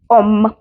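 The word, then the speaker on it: homme: O double M ई ओम एच को एच तो बोला ही नहीं गया इसमें ओम ओ डबल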